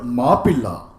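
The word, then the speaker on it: Mappila: The English pronunciation, the English term Moplah, what is known as Moplah, is a corruption of the word Mapilla, which both in Tamil and Malayalam means son-in-law, aliya, damad.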